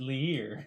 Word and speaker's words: Lir: Yes, have you heard of Lear? This is kind of difficult for me. And he looks at your. Some people pronounce it Lear.